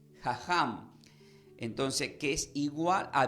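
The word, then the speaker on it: חכם: la palabra del hebreo la palabra sabio se pronuncia como jajam entonces que es igual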